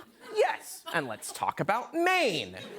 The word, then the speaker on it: Maine: Colin, don't you live in like Maine? Yes. And let's talk about Maine. M A I N E. Huh? Really? The E is silent.